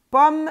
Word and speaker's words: pomme: Pomme s'écrit avec deux M et pas un seul M. Pomme. Je ne dis pas pomme me, je dis seulement pomme.